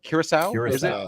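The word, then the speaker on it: Curaçao: do you even how do you say that Curacao okay yeah one ounce cranberry juice half ounce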